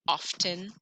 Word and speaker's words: often: that k silent often do you really know anybody that pronounces the t in often i say it often no we don't really say the t eight what is that